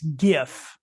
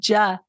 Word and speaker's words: GIF: Which it it's it it's Twitter and it's GIF everyone. It starts with a G. I thought it was ja like a soft G. No, I know I know I know. I know. It starts with a G. Like George.